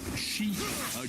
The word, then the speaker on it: Xi: And Michael said, "Daily watcher and finally got in live and willing to pay $100." I forgot to correct how you pronounce the name of the Chinese dictator. Uh G is pronounced like she Google and make it last.